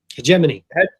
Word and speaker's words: hegemony: You can call it hedgeimony. That's how the Brits pronounce it. Call it hedgeimony.